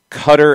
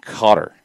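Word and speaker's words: Qatar: that is accurate katie somewhere between cutter and cotter i think that's the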